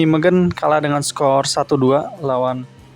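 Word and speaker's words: Nijmegen: kedua atau ketiganya nih di n megen ya bacanya megen ini main lawan FC utreh di mana oleh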